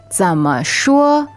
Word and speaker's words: 怎么说: All right, and the last phrase is 怎么说? 怎么说? All right, remember 怎么, that 怎 goes low, and 说 is first tone, flat and high.